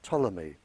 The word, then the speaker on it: Ptolemy: Egypt by the name of Ptolemy spelled with a P he a very famous